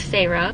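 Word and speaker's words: Feyre: that's how you say it's not fair it's Pharaoh something happened with her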